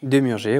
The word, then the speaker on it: Demurger: Demurger, oui, tout à fait. Demurger, c'est bien, ça se prononce.